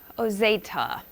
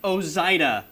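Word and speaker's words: Ozaeta: Immediately I go Ozeta. Close. I don't feel like that's right. Very close. Heath Oza.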